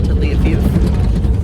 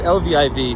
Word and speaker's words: Lviv: You know, I'm back on the bus, and we are officially in Ukraine on our way to Lviv.